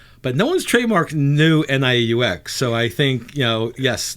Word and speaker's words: Nieux: But no one's trademarked new NIEUX. So I think, yes, the Nieux Society is spelled NIEUX with a little French New Orleans flair.